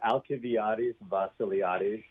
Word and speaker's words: Alcibiades Basiliades: First of all, he holds the, how do you pronounce that chair, Dr. Watts? The Alcibiades Basiliades Endowed Chair.